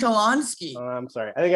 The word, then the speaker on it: Kolonsky: thought we were friends how did i pronounce it kalinsky it's supposed to be kolonsky oh i'm sorry i